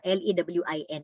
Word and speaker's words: Lewin: L-E-W-I-N, pero ang pronunciation yan is Lewin because he's a German national na nag-migrate sa US